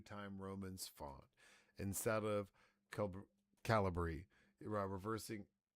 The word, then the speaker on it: Calibri: font over waste bro uh over wasteful uh caliber. Is that how you pronounce it? I never knew how to I always went with Calibri.